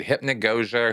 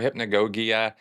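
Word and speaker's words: hypnagogia: in Scientology okay hypnosia now I might be mispronouncing that for some folks out there I looked it up actually so I I think I'm saying it right it's kind of an odd word hypnogogia hypnogogia um referred to as also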